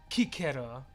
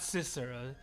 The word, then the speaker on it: Cicero: So he spoke with hard C's, right, Kikero, and soft V's, pronounced like K and V pronounced like a W. That's pretty cool, man. I like that. Kikero, not Cicero, Kikero.